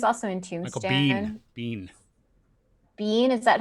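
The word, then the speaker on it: Michael Biehn: Beal he was also in Tomb bean bean bean is that how you say it yeah oh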